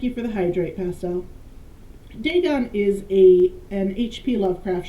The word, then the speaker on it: Dagon: ancient Philistine legend of deeon the fish God I apologize Deon I've been pronouncing it wrong okay I've got that